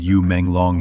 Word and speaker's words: Yu Menglong: In Chinese, U is pronounced the same as fish and long is as dragon.